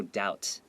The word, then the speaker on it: doubt: The B is not read. It's silent. So it's no doubt.